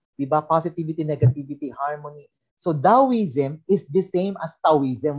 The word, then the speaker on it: Taoism: So Taoism is the same as Taoism. Huwag kayo malilito doon. Kaya pag lumabas, letter A, Taoism.